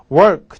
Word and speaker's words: work: work. 제가 발음 가르쳐 드렸죠. work. 줄이면 work. working. 이렇게 굴려야 됩니다. work. 이때 혓바닥은 입천장에 닿지 않습니다. work 이게 아니라 work. 입을 동그랗게 모아서 마치 뽀뽀하듯이 work.